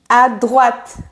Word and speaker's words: à droite: On a un T-E à la fin et le E provoque le T.